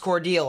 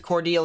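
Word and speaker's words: Cordele: are looking at here specifically and um it's pronounced cordial all right i'll pronounce it cordial here appreciate all the people who correct me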